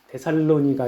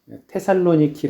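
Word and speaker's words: Θεσσαλονίκη: 영혼의 우리가 함께 라는 말씀은 사도 바울 일행이 데살로니가 에서 전도한 내용입니다 아 바울 당시 데살로니가 는 올라 레그 그 에이스의 보면은 으 그리스 해안도시 테살로니키 라는 그런 도시가 있습니다 에 거기에 당합니다 뭐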